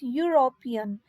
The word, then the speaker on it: European: Okay, and here E is silent and this word pronunciation becomes European, which is a U sound and it's a consonant sound.